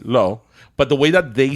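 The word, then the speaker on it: l'eau: do you say water well I say low it's l apostrophe e a u okay like like like perfumes right okay but it's it's one of these words like I could say low but the way that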